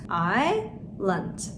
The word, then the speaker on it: island: S harfini burada okumuyoruz. Island. S'yi atlıyoruz. Plumber.